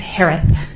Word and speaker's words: Herath: maiden name last name is pronounced like Harris with a lisp it's herath h-e-r-a-t-h uh hi Shay